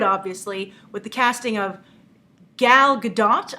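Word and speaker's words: Gal Gadot: casting of gal GDOT I'm making sure I try and pronounce it right a lot of you yesterday were like that's the French uh pronunciation of her name not the Israeli so I heard it was Gul gdat uh she's playing Wonder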